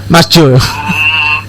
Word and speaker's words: Jo: Itu atau Jo itu bacanya tuh, Mas Jo. Jo, pakai J. Pakai J ya, Jo ya, oke.